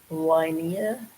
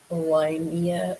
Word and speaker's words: Liehnnia: I believe it looks like it's pronounced Linnea. Liehnnia is how her name on her birth certificate is actually spelled.